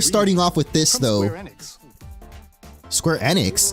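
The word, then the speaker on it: Square Enix: Square Annex, that's how you pronounce it.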